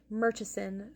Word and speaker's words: Murchison: This is Sir Rodrik Merchesen. First, the Baron. And yes, I'm going to pronounce the correct way, not the English way.